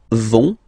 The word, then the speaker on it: vont: it, so ils vont, final T, not pronounced, ils vont, and then feminine form, elles vont.